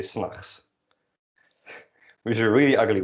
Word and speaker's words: 's nachts: 's nachts doesn't usually get pronounced like that, but you drop the T, basically when you say that. You say 's nachts.